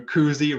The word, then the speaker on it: koozie: When it comes to koozie, right, sounds like jacuzzi. Indeed it does, right? So if you're thinking about how you're going to pronounce that word, jacuzzi is a fantastic word to draw parallels to.